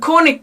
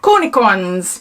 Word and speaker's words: cornichons: I was gonna say it's not is it corny cornichons is how you say it cornichons so one is gin